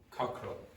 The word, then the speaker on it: cockerel: Cockerel. Okay, and you don't pronounce the E in the middle.